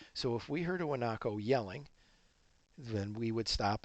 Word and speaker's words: guanaco: eat this is a guanaco you spell guanaco with aji but you pronounce it without the G because this is Spanish and this is the